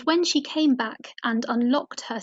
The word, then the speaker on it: unlockt: And when she came back and unlocked her said door, so the word unlocked is spelt Unlockt, so it's pronounced the same but spelt differently, so could trip you up there.